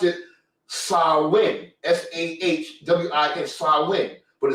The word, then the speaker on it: Samhain: I think it's an Irish word, but they pronounce it Samhain, Sahwin, Samhain, but it's spelled Samhain.